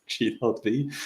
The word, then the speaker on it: G.V: I'm the creator of G.V. Uh, now always address that. First of all, G.V is pronounced G.V.